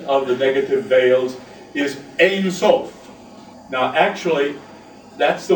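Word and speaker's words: אֵין: And so ayin changes its pronunciation to ein when it comes before the word sof, which means boundary.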